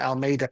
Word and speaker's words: Almeida: Almeida.